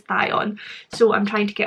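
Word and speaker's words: Thyon: think it is like obviously it's spelled t h y o n but for some reason i want to pronounce it beyond but my lovely friend ro has to ignite it is thai on so i'm trying to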